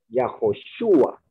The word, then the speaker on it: Yahoshua: Ahí la pronunciación es en la U. O sea, el acento, la forma más fuerte de entonación es en la U. Yahoshua. Yahoshua, correcto. O Yahshua. Yahshua, exactamente. No Yahshua. Nada más es una corrección